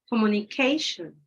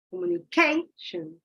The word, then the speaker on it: communication: Communication. Where did my pitch go higher? Communication. You see? It changes.